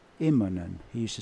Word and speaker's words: Immonen: He used to introduce him as Mika Innomen. Really? Instead of Immonen.